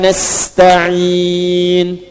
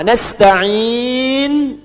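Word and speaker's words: نستعين: Nasta'in dibacanya fathah depannya. Nah, ya. Ujungnya harakatnya u kalau disambung.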